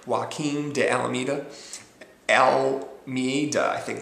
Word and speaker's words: Joaquim: And Joaquim de Almeida. I apologize if I'm pronouncing it correctly. It's like Joaquin Phoenix, only it's with an M. Joaquim de Almeida.